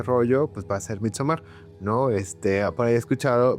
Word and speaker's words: Midsommar: apertura de este rollo, pues va a ser Midsommar, ¿no? Por ahí he escuchado, me da mucha risa que dicen Midsommar.